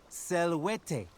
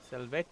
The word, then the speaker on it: Salvete: Selwete. Salvete.